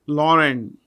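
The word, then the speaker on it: Laurent: uh has a new CEO his name is Lauren uh La actually l a u r e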